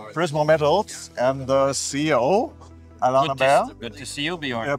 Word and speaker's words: Alain Lambert: we're here with Prismo Metals and the CEO, Alain Lambert. Good to see you, Bjorn.